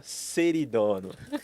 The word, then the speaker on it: Ceridono: Senhoras e senhores, Mariana, que eu aprendi a pronúncia agora, Seridono.